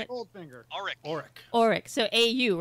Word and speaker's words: Auric: Auric.